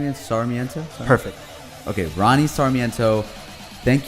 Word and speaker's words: Sarmiento: Sarmiento?